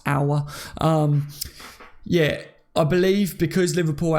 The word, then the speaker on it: Aouar: him that but I've found out state it's pronounced our yeah I believe because Liverpool had Scouts scouting